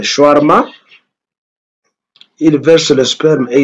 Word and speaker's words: shawarma: s'appelle comment c'est shawarma, que les Congolais malheureusement prononcent mal en disant shawarma, mais c'est le shawarma.